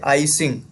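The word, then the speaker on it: I-Tsing: वो थे आई सिंह। ठीक है? आई सिंह टी शायद साइलेंट रहेगा और ये हो जाएगा आई सिंह।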